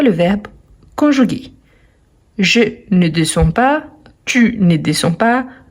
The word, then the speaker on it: descend: même descend descend descend on ne prononce pas le D à la fin nous descendons vous vous